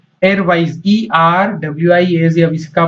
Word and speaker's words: Erwise: वेब ब्राउजर जो था उसका नाम क्या था, एयरवाइज, ERWIAZ। अब इसका प्रोनाउंसिएशन आप चाहे जैसा करें, स्पेलिंग होती है ERWISE।